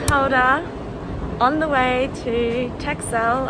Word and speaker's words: Texel: on the way to texcel otherwise pronounced as tessel we learned anyway had